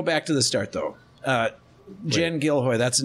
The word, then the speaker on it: Jen Gilhoi: Jen Gilhoi, that's the name. Right. Got yes, it. Yeah, that's the first one.